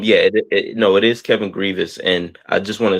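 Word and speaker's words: Grevioux: no you're right I believe it actually is pronounced Grievous but um I guess maybe once he started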